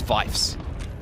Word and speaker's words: Vies: saying my name wrong it's not it's vies so I've corrected myself apologies